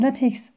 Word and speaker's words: LaTeX: Şimdi LaTeX, daha doğrusu LaTeX diye okunuyor.